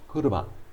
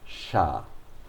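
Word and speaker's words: 車: this lone kanji appears you know that it's pronounced kuruma when it's in a in a group of other kanjis it's pronounced shah i also told you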